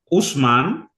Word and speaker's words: Ousman: that my personal name is p p a Usman O U S as in Sam M as